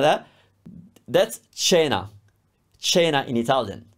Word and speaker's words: cena: That's cena. Cena in Italian. It's a CH sound because your instinct would be cena.